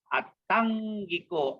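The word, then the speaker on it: aṭṭhaṅgiko: And then the next word is Attangiko, Attangiko, Attangiko. Double T, and that T has a dot below, so it is going to be retroflex. Attangiko, Attangiko.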